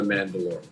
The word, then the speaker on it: Mandalore: The leader of the Mandalorians is pronounced Mandalore, which is the way that they have it spelled. So, not the way of the Mandalore, like in the Mandalorian. It's the other way.